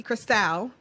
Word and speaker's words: Cristal: I am Cristal. A lot of people probably just pronounce that incorrectly. underscore Cristal. Cristal like champagne is spelled C-R-I-S-C-A-L.